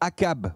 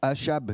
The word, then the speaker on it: Achab: Est-ce que vous savez qui est le roi Akab ou Achab selon la prononciation ? Akab ou moi je dis Akab, d'accord ?